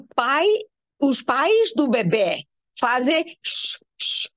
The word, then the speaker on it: pais: It's different from país. When there is an accent on the I, the word is país. País is country.